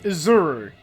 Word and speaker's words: Izuru: Izuru. That's how it's pronounced.